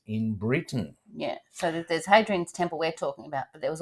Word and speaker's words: Hadrian: Yes, then, as you said, we passed the Temple of Hadrian. Now, well, it's Adrian spelt with a H, but sometimes the H is silent in the Romance languages.